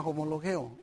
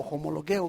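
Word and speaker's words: ὁμολογέω: Es una palabra que se llama homologeo o homologueo, como usted lo quiera pronunciar.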